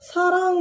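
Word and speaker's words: 사랑: or in this case is pronounced as sa instead of shi or shi it just pronounced asa here simply not sung not with that much stress so the example for that is saran sarang means love sang ship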